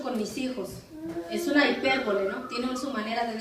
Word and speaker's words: hipérbole: Vamos a ir a otra figura retórica, y esta figura retórica es la hipérbole, con H. Hipérbole. Hipérbole. Con acento en la I, hipérbole, y con H.